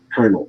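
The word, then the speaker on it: colonel: words that are irregular kernel is a great example c-o-l-o-n-e-l is her words that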